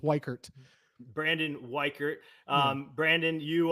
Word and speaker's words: Weichert: say your last name actually uh Wert but you wouldn't I forgive you because everybody butchers it but it's Wert Brandon wer um Brandon